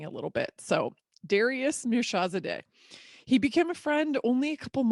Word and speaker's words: Mirshahzadeh: I learned how to pronounce it. I'm so proud of myself. He schooled me a little bit. So Darius Mirshahzadeh.